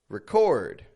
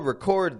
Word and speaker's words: record: sound like a verb because a verb is stress on the second syllable for example if I say the word record I'll record this record or if I say record do you have a record of that a record that's the